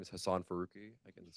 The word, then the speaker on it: Farooqi: Next, we have signed up is Hassan Barooi. Did I say that correctly? Well, hi. Uh, thank you all so much for, uh, the opportunity to testify. My name is Hassan Farooqi.